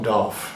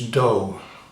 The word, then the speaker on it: dough: No, it's not doff. No, it's not. No, it's not dow either. No, it's dough.